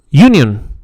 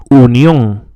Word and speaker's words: unión: The important thing to remember about the U is that it has no initial Y sound as in English. When we pronounce the word union, for instance, we actually say union. Leave the Y sound off in Spanish.